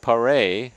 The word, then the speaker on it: Paré: Well, they're saying the pronunciation is Matt Paré, and he is out of Boston College as well, so Paré will step in.